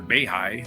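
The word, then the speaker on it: Beihai: I love their fountains in Beehive or Behigh is how it's pronounced.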